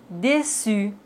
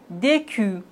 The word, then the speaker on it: déçu: Mais s'il n'y a pas de cédille, on doit les prononcer comme ça. Franquet. Garcon. Facade. Décu, Mais on a la cédille, donc on doit dire français, garçon, façade, déçu.